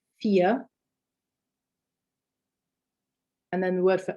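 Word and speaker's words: vier: me v okay so words beginning with a v for example fear meaning for the number four fear and then the word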